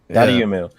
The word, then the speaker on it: Dotemu: Dotemu.